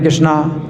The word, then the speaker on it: कृष्ण: और मंत्रहीनम, तो मंत्र में जो है अगर मान लो कोई गलती हो जाए, हम बोलते हैं रामा हरे कृष्णा, तो वैसे तो हरे कृष्ण है, हम बोलते हैं हरे कृष्णा, तो इसमें कुछ नहीं अंतर पड़ता है।